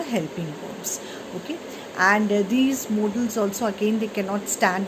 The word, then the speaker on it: modals: M-O-D-A-L-S. Children, it is not pronounced as models. Instead, it is pronounced as modals.